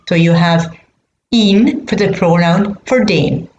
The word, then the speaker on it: ihn: I need to get a pronoun to suit den, and it's ihn. I-H-N. I-H-N. So you know that the masculine accusative has to end in n. So you have ihn for the pronoun for den.